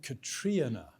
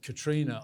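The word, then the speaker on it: Catriona: And she pronounced it, I think, Katrina. with sort of 3.5 syllables. Whereas I pronounce it Katrina, I miss the y sound.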